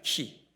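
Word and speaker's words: χ: 헬라어로 그리스도가 크리스토스 든요 저 헬라의 x 원래는로 발음하지 않고 저 명칭이 키입니다 키 그런데 그냥 편의상의 x고 우리가 부르죠 저 x 글자가 가지고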